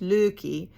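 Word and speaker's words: Lykke: I know it looks like likey, but I think it's Norwegian. And I think it's pronounced Lukey.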